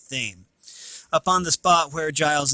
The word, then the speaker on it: Thame: I don't think that's pronounced Tim. I think that's pronounced Thame.